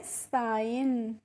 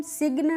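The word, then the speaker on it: sign: यहां पे फ्रेंड्स जो जी होती है इसका हम प्रोनाउंसिएशन नहीं करते हैं। और यह जी कैसे रहती है? साइलेंट रहती है। इसीलिए इसको हम सिग्न नहीं पढ़ते हैं। क्या पढ़ते हैं? साइन पढ़ते हैं।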